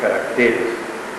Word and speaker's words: caracteres: Y ojo, no es caracteres, es caracteres.